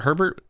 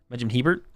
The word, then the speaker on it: Hebert: Benjamin, was it Hebert? Or is it, do you pronounce it Herbert? Hebert. Benjamin Hebert.